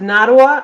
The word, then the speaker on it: Nottawa: And am I pronouncing your first name correctly? Na? It's Nottawa. I tell people it rhymes with Ottawa because Nottawa.